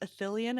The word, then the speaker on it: Ithilien: they wake up in, is it pronounced Athelion? I haven't had to say it in a while. Ithilien, yeah.